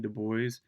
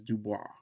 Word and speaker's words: Du Bois: most important debates of all times is between Du Bois and Booker T. Washington. Yes, you'll hear people mispronounce Du Bois as Dubois because in French that is how you say it.